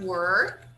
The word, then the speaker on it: were: So here we have were, and here we have war. War. So it's a little different. Here it's were. Were. Okay. All right. War. This one is war. It's different. Okay. War. So it's totally different. Different sound.